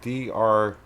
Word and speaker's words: Drukh: Ukraine called Druk, and it's spelled Drukh, and I think you pronounce it as Druk.